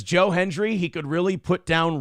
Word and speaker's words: Joe Hendry: I believe in Joe Hendry.